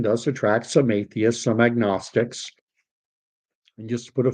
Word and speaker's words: agnostic: knowledge power uh nosis an agnostic or an agnostic because uh an agnostic but it's typically pronounced agnostic is more or less